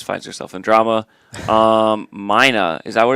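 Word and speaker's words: Myna: because she always finds herself in drama um Mina is that what it's pronounced yeah m m y n a Mino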